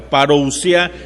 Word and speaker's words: parousia: que sabes su significado parousia así como suena p a r o u s i a parousia algunos lo pronuncian parousia